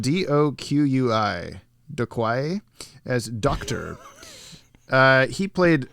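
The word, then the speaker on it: Doqui: uh mary devin as some lady bob docky it's spelled d-o-q-u-i de quai as doctor uh he played a character that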